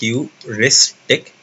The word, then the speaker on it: heuristic: तो ह्यूरिस्टिक is pronounced like this, heuristic.